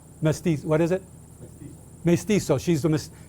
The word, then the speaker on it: mestizo: She's a mestiza, I think is how you say it. How do you say the mixed race, Gabriel? Mestizo.